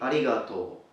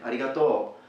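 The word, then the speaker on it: arigatō: the standard spoken language, it will be arigato, arigato. But some Japanese speakers coming from other areas, such as for example Osaka, will pronounce it differently. You will hear different pronunciation. They will probably say something like arigato, with kind of a stronger accent towards the end, arigato. But in standard language you would simply say arigato.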